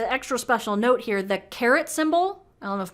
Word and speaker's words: caret: That's the little guy on the 6 key called the caret, not like the vegetable.